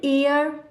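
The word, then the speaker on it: heir: यहां पर देखिए एन एयर ठीक है हर इसको नहीं पढ़ेंगे और एयर अब यहां पर भी हमारा हा साइलेंट है तो ए आई आई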